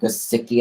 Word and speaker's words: Gesicki: Yeah, Gesicki, I'm pretty sure that's how you say his name.